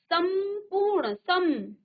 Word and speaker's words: संपूर्ण: ठीक है, और ये अनुस्वार हुआ है संपूर्ण, संपूर्ण। जब आप इसको पढ़ते हैं ना तो क्या होता है, संपूर्ण।